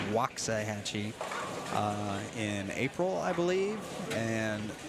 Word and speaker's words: Waxahachie: I say that correctly it's spelled Waxahachie but it's Waxahachie in April I believe